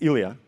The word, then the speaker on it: Ilya: And his name was the same name as mine, the name that no local people can really pronounce. The name is Ilya, if you're wondering.